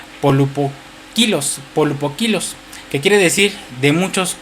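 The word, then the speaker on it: πολυποίκιλος: Cuando habla de la palabra multiforme, usa una palabra griega que se pronuncia polupokilos, que quiere decir de muchos colores.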